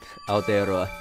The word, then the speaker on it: Aotearoa: Aotearoa.